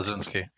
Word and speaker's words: Bleszinski: Blazinski.